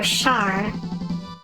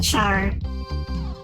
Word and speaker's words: Char: I know that Camille getting his brain fried is the reason why Char ended up the way he did in Char's counterattack.